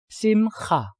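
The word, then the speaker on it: שמחה: 왜 어려우냐면은 네 글자로 이루어져 있는데 세 번째 글자 헤트라는 알파벳 발음이 우리 발음에는 없는 발음이에요. 저도 사실은 정확하게 발음한다고 할 수 없는데 현대어의 발음과 비교한다면 독일어에 이런 발음이 비슷한 발음이 있어요. 뭐 바흐라든지 이히라든지 이런 발음하고 비슷하기 때문에 조금은 신경을 써서 발음을 해봐야 돼요.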